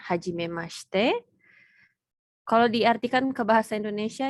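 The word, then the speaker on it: はじめまして: Jadi yang pertama ini bacanya hajime mashite.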